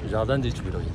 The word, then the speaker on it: Jardin des Tuileries: This is Jardin des Tuileries. Is my pronunciation correct? Yeah, Jardin. Jardin. Jardin des Tuileries.